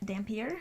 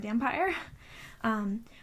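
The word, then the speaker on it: dhampir: how you say it it's DHA m p ir so that's how i'm i've always said it in my head is Dampier or a damn pyre which is a half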